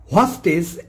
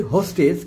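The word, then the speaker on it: hostage: হস্টেজ এর পারিভাষিক শব্দ কি হবে? আমরা বলি হোস্টেজ। কিন্তু হোস্টেজ না উচ্চারণ হবে হস্টেজ এর বাংলা পরিভাষা হচ্ছে জিমমি।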